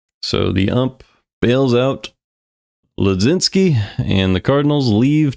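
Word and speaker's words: Mlodzinski: Carmen Ledzinski. I imagine you don't pronounce this M.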